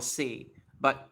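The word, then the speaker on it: 西武: In Japanese, you don't really pronounce like seibu. When you actually say it, it's seibu. Like you kind of like stretch the e sound a little bit. That's how you would say it.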